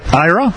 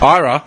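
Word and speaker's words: Eire: King Len of it's how do you pronounce it I Ira Ira yeah what do you mean cuz once you cre say it's the kingdom of Island all right but it's spelled e i r e go a a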